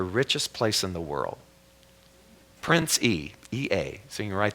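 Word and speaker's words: Prince Ea: His name is Prince E. Prince, and it's spelled E-A.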